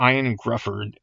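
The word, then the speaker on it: Ioan Gruffudd: And I believe pronounced Ian Grufford.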